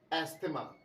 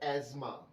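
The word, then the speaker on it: asthma: अब डॉक्टर्स कहते हैं एस्थमा, तो इसका मतलब मैं क्या कहूं, लेकिन जो सही प्रोनाउंसिएशन है इस वर्ड की वो है एज़मा। एज़मा, एस्थमा जैसा कोई वर्ड नहीं होता है, एज़मा।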